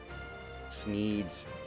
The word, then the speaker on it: Sneed: it's no holding back sneeds Beed and Seed yeah show me true power you see the humor is derived from the fact that Sneed rhymes with feed and seed to sa ground strike